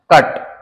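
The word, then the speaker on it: cut: चलो, ये 2 वर्ड देखो, this is pronounced कट, बट इसको हम प्रोनाउंस करते हैं पुट। अगर ये कट है तो वो पट होना चाहिए, अगर वो पुट है तो ये पुट होना चाहिए, है ना।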